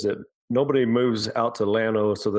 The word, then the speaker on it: Llano: So Llano, Texas, we are an hour and a half west of Austin, okay, and an hour and a half north of San Antonio.